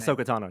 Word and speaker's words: Ahsoka Tano: I don't know how you pronounce her name. Ahsoka Tano, yeah.